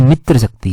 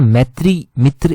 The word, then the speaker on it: मित्र शक्ति: pronounce कर दिया था ये मित्र शक्ति है हमने ना पिछली टाइम पिछली बार गलत पढ़ लिया था अभी आपका डाउट क्लियर होगा कैसे दो एक्सरसाइज हैं एक है मित्र शक्ति एक्सरसाइज जो इंडिया श्रीलंका के साथ करता है एक है मैत्री एक्सरसाइज तो हमने ना मैत्री मित्र इस तरह से गलत प्रोनाउंस कर दिया था और फिर थोड़ा सा